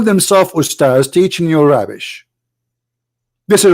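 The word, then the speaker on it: أستاذ: to say the word because the word Ustads is not correct in the way they say it. The word in Arabic is Ustaz, which means a master, teacher. So they call themselves Ustaz, teaching you rubbish.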